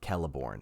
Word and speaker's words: Celeborn: a k or uh celeborn so it is kelleborne but it is spelled c-e-l-e-b-o-r-n it is also the